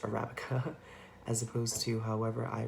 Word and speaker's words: Arabica: video I have learned that Arabica beans are pronounced Arabica as opposed to however I pronounced it last